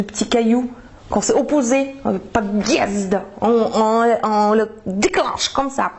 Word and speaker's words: подъезд: En fait, cette lettre, elles servent à partager bien les 2 syllabes. Par exemple, si on écrit le mot подъезд, donc P-O-D, tvrdy znak, Z-D.